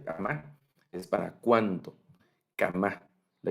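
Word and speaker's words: כמה: Kama, así se pronuncia kama, es para cuánto.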